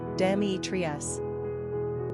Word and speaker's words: Demetrius: Pronunciation, Dēmētrios.